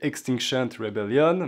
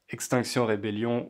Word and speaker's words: Extinction Rebellion: Donc à l'origine c'est Extinction Rebellion, mais en français on le prononce à la française parce que c'est les mêmes mots.